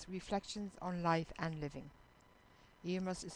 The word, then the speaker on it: Iomas: my book Emma Reflections on life and living em must is spelled i o m a s this you're